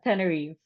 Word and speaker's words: Tenerife: Tenerife.